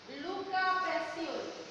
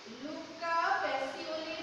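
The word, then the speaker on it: Luca Pacioli: লুকা প্যাসিওলি। বানানটা দেখো, বাংলা বানানটা হবে লুকা প্যাসিওলি, বাংলা বানান এবং ইংরেজি বানান দুইটাই তোমরা দেখবে।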